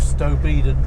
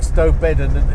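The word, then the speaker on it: Stow Bedon: This will take us down towards uh the village of Stoeden. Stobedan again is another pronunciation. I think Stobidden is how it's pronounced by people that don't know it.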